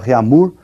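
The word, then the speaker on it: Réaumur: é a escala reamur que nós vamos pronunciar reamur né que a portugues de novo né E essa escala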